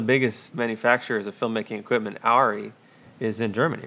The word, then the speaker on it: Arri: How do you say it? Is it Ari? Ari. Ari. Ari. Ari. You roll the R a bit too strongly.